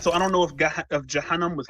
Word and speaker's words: Jahannam: Is it Jahannam or Gahannam? I think the way you pronounced it was probably more accurate. Some of them pronounce it with a J. Well, I think the way you pronounced it is probably closer to the actual Arabic pronunciation.